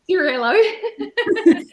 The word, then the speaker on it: Cirillo: I did pronounce Italian pronunciation. Cirillo.